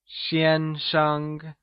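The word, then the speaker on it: 先生: Xiān is pronounced using the high level tone or the first tone, while Sheng is pronounced using the neutral tone Lets hear you say Xiānsheng !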